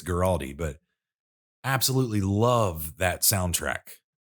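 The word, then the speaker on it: Guaraldi: many others do from vince garotti girardi or gueradium not exactly sure the pronunciation i think it's giraldi but absolutely love that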